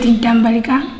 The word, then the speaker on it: Ntambalika: My name is Ntambalika. Spell. NTAMBALIKA. My name is Ntambalika, and I spell it like, and my last name MTAMBALIKA.